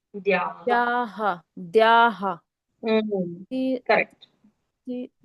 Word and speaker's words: द्याः: द्याः यस्य द्याः द्विरद वक्त्राद्याः। द्या के बाद जो द्याः विसर्ग है उसका उच्चारण हमको हा के जैसे करना होगा।